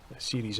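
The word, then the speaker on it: Ceres: turn this down and show you series c-e-r-e-s series and just have a spell pronounced right all right so let the carpark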